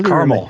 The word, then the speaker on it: caramel: title of that song it's carel it's always caramel to me clearly how how I say it but I I see the spelling it three sybl three syllables there not for me and that was a